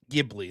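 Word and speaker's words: Ghibli: First thing to say is uh Gibli. There we go. I was pronouncing it wrong.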